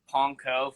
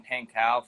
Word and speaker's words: Pankow: and he was like I've heard panco from my mom in Pankow from his desk side it was like that